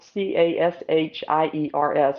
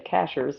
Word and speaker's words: Cashiers: North Carolina or Cashers it's spelled c a s h i e RS but people say Cashers it's not cashiers those are two really